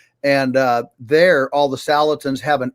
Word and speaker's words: Salatin: back on the show Joel am I pronouncing your last name right salatin yes you've got it exactly correct okay is that how